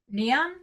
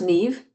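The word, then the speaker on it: Niamh: Neon. Is that your name? Neam. It's pronounced Neve, but that's okay. It's an Irish name. So Neve like Steve.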